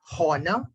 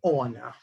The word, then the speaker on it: honor: I heard somebody say honor. H is silent. It has to be honor.